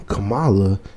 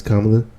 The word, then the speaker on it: Kamala: African-American lady right and he's mispronounced the name Kamala and people some of his followers say Kamala but all the time no it's kamla clearly he know how